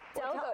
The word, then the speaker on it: Delgo: Yeah, Delgo.